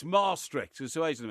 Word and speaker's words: Maastricht: Well, it's pronounced Maastricht because it's two A's in the middle. It's Maastricht, there's two A's in the middle. Maastricht.